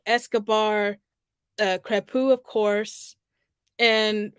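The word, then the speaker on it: Crépeau: debuts, actually, like Escobar, Crepu, of course, and forgive me if I'm mispronouncing his name. I feel like I am in a sense, but I think Crepu is the correct pronunciation.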